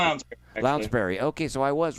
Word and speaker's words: Lounsbury: I'm sorry for the mispronunciation. Lounsbury. Lounsbury.